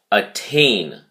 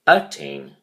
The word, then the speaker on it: attain: quarter three week five attain is a verb with two syllables and the emphasis is on the second syllable so you say attain attain you do not say attain you say attain and